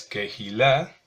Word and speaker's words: kehilá: La palabra para congregación es kehilá. Kehilá, ya la mayoría sabemos cómo se escribe kehilá, la cual viene de la palabra